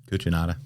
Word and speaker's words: Cucinotta: Did I pronounce it right? Cucinotta.